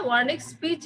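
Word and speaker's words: Wernicke: এটার নিচ বরাবর একটা ওয়ার্নিক স্পিচ এরিয়া থাকবে। ব্রেনের একটা স্পিচ এরিয়া থাকবে, ঠিক আছে? ব্রেনের স্পিচ এরিয়া থাকবে, ওয়ার্নিক্স, ডাব্লিউ দিয়ে উচ্চারণ, কিন্তু ওয়ার্নিক্স স্পিচ এরিয়া, এরিয়া নাম্বার 39।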